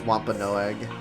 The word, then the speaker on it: Wampanoag: Okay, I need to actually know how to pronounce this. I'm American. Wampanoag. Oh, it is Wampanoag.